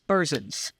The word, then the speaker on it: Berzins: with our guest bersin let me just tell you something your last name looking at your business card right now is spelled exactly how it sounds e e r z i ns bersin hard to believe it's